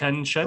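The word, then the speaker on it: Shen Chuan: And it's pronounced Shen. Right. Shen Chua. Shen Chua.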